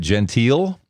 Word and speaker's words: Gentile: And best of luck with the book, Quarks of Light, by, and you pronounce it Gentile?